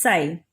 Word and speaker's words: psi: The pronunciation is psi.